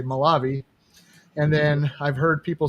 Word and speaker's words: Molave: have to change it but it's it's a malavi fortunately malav soris on the e at the end okay you guys hear here here first it's not malav is malavi okay yeah I never I've never even